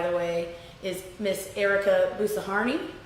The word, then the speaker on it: Boussarhane: way, is Miss Ericka Boussarhane, I believe it is pronounced. Boussarhane, I think it is. I think I've been calling it Boussarhane, and then I was wrong because I heard her pronounce it in one of her videos. So apologies if I mispronounced the inflection there.